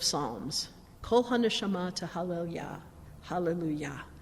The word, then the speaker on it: hallelujah: kolhanda shama to halal hallelujah so yah at the end of hallelujah that's a